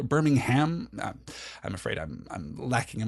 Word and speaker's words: Birmingham: Birmingham. So I guess it's just the the stress in the last syllable there. Birmingham.